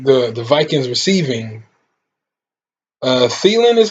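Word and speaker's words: Thielen: yards and then the the Vikings receiving a feelin is how you say his name I know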